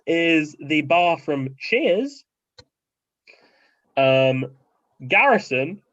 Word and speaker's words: Garrison: Garrison, of course, rhyming with Harrison Ford, if that wasn't clear, is from Peaky Blinders.